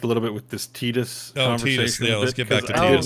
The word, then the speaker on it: Tidus: so forget correct pronunciation if you look at it and say like oh ty it's i think intended to be titus so it is intended to be titus and john was right